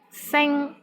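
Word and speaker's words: 星: Sing, which means star, S-I-N-G-1. Here, the initial sound is S, and final sound is ing, I-N-G, and the syllable is in the first tone.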